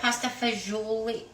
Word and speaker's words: fagioli: that you mention it, sometimes when I've had pasta fagioli, Yeah, I don't like fazool. Do you guys like fazool? I say fazool, but I'm not Italian.